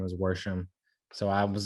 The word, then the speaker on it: Worsham: So I was like, oh, that's like verb, like exactly the way your last name is spelled is the way these old Southern Indiana ladies would say, go wash the dishes. And I was like, yeah, Worsham. The R and the wash.